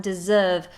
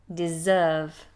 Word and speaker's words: deserve: Observe and deserve. Notice those S's are actually Z sounds. Observe, deserve.